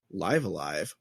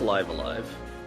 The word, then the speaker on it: Live A Live: I always pronounce it Live Alive. So It's Live Alive. it's Live Alive? Okay. It has if you look at the katakana above it. katakana, it's Live Alive.